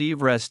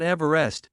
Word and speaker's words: Everest: Sir George Everest, and therefore should be pronounced Everest, not Everest. As per the pronunciation of the British surveyor's surname, Everest was originally named